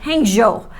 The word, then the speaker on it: Hangzhou: the Hilton and Hangzhou it's called hangjo and they you know it's we would say Hangzhou but they say Hangzhou is the pronunciation and it was just